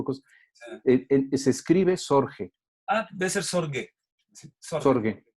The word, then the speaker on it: Sorge: A ver, un segundo, porque no sé a qué te refieres con debe ser, la pronunciación es con G, Sorge, ¿no?